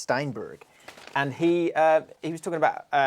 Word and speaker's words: Steinberg: And that's the correct and that's how you must say it. Yeah, it's pronounced Steinberg.